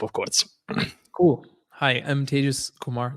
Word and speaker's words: Tejas: course cool hi I'm tagus Kumar that's pronounced like contagious and in Spanish contagious